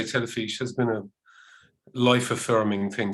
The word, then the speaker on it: Telefis: this out i know the spelling is a little different from the pronunciation it's a t-e-l-e-f-i-s which is pronounced telefish yeah and it's it's